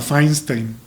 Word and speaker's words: Fainstein: ¿Cómo se pronuncia Feinstein? Así como suena Feinstein.